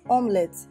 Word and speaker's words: omelettes: melody it's pronounced as omelettes say omelettes in omelette it's called omnis if i want pronunciation one after is pronounced as omelette not omelette this e is silent let's assume there is